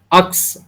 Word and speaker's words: अक्स: আয়া থা মেরা বারিশ বনকে, ওখানে আপনি একটা জিনিস পুট করতে পারেন, বারিশের জায়গায় আমি বলবো ওখানে আকস, আকস, আকস যদি উচ্চারণ করতে পারেন।